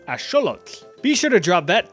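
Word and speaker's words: axolotl: You've probably been saying this as axelottle or aote for my Spanish speakers, but it actually comes from the nawat language. So, it would be correctly pronounced as asholot.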